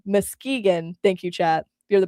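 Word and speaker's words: Muskegon: Um I keep wanting it's it's feels like Oregon at the end and I keep wanting to pronounce it in that way. Mkegan, thank you chat.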